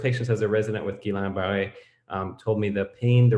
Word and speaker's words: Guillain-Barré: And Mathieu, you made the excellent point that Guillain-Barré, although sorry, I said it again. I just heard this video last week. Guillain-Barré, it's hard after so many years of pronouncing it wrong. Guillain-Barré is not just a acute neuropathy.